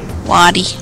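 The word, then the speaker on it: Wadi: Waddy. Owdy. Rhymes with Quaddy.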